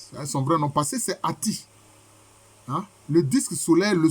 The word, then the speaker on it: Aton: Donc, en fait, la bonne prononciation, c'est Ati. Et on dit que c'est le disque solaire.